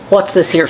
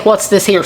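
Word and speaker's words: Worcestershire: going to add a good little bit of what's this here sauce what you sh I say it right but a lot of people say people may say I say it wrong so I say what's this ha sauce so it'll amount to about a tablespoon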